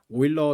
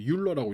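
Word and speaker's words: Euler: 그래서 우리나라에서도 이 오일러 상수를 그 영미권처럼 율러라고 읽지 않고 오일러라고 읽어준다.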